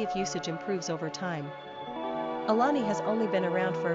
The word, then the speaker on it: Alani: Quick Facts ON ALANI GENDER: Girl ORIGIN: American NUMBER OF SYLLABLES: 3 RANKING POPULARITY: 614 PRONUNCIATION: ə-LAH-nee SIMPLE MEANING: Orange (fruit)